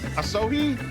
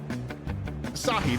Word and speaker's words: Asahi: I'm gonna get his name wrong, but Asohi also down. Minfilia still nowhere to be seen. Ishtola still benched. Asahi, there you go. Yeah, Asahi. All right, focus up, Mike.